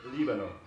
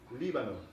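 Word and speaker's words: Líbano: Lebanon in Spanish has the accent on the first syllable. It's Libano, Libano.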